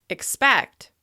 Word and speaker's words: expect: As you can hear, the second syllable receives the most stress. This means the vowel sound in this syllable is longer, louder, and higher in pitch with extra clear mouth movement. Because we're focusing attention on the second syllable, we need to de-emphasize the first one. This means that first syllable may even be reduced to the I sound.